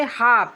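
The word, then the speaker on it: half: उसी तरह से है एच ए एल एफ अब हम एल नहीं पढ़ेंगे तो क्या पढ़ेंगे हाफ हाफ मींस आधा अब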